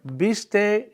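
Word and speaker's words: vístase: dressed to a friend Beast Accent on the eye Beast don't get dressed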